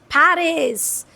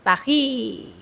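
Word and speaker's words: Paris: That is पेरिस टू not pronounce it पारी। पारी okay no that's not cool. Pronounce it like French people. It इज़ पाखी।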